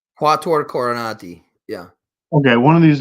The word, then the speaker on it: Quattuor Coronati: How do you pronounce it? Quietar Coronati. Quattuor Coronati.